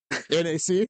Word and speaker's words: NAC: her new son yeah rhymes with Knack NAC yeah I was just